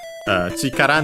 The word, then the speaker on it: chikara: Chikara ni narenai wa. First and foremost, we have chikara. This we have seen for sure before, even in this very series. Accent on the last syllable, but we'll check anyway.